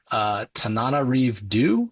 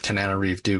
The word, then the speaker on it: Tananarive Due: Tananarive Due, I believe is how you say her name.